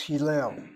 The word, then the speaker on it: Hillel: Accent is on the last syllable. Hillel. The word means to praise. Praise. It's also the name of some of the more important, better known sages of old. Hillel the First, Hillel the